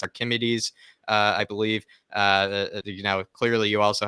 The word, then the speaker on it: Archimedes: It's Archimedes.